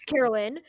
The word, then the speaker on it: Carolyn: It's Carolyn. Actually, the game Carolyn. pronunciation is Carolyn for some reason.